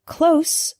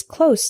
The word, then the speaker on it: close: common examples the word closed with an S sound means near not far for example my house is close to the bus station the word close with the Z sound is a verb this means to shut